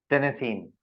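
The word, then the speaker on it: Tennessine: File कैसे pronounce कर रहे हैं इसको? टेनेसीन।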